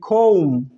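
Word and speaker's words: comb: হয়নি যেমন চিরুনি ইংরেজি চিরুনি ইংরেজি আমরা বলি কম্ব আসলের আসলের চিরনীন ইংরেজি হচ্ছে খোম যেমন সি এর সাউন্ড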